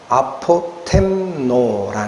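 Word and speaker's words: ἀποτέμνω: 근데 왜 제가이 되지도 않는 헬라를 자꾸 끌어들이냐면이 아포토미아라는 단어 하나님의 주놈하심이라는이 단어가 어디서 나온 단어냐면 아포템노라는 동사에서 나옵니다.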